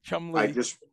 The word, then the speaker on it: Cholmondeley: The easiest way to think of it is two syllables, C-H-U-M. Yep. L-E-E, Cholmondeley.